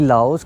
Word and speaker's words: Lao: लाओ peoples democratic Republic तो अगर आप इस कंट्री को प्रोनाउंस करना चाहते हैं तो आप लाओ ही बोलें लाओ देश यार भाई